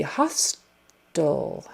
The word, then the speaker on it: hostile: Hostile. H-O-S-T-I-L-E, meaning not friendly. You say it the same way as H-O-S-T-E-L, hostile.